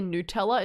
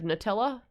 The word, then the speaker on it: Nutella: You know, some Americans say Nutella instead of Nutella, which is so funny because it just implies to me, like, do you say newt instead of nut?